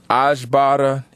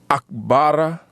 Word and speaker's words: Akbara: corrected me and said the proper pronunciations for those words are Akbara and Ikbora. A very abrupt glottal stop with the ak.